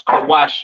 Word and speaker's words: Kush: kushites you understand uh pronounce kawash in the Hebrew Syrian spelling over here to the right kaash the Kawa and sha